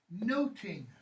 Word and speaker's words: nothing: in Shakespeare's day that words nothing isn't necessarily pronounced that way it's pronounced noting right kind of like if you hear somebody were the real strong Scots or Irish accent today they'll say no Tina rather than nothing I was just listening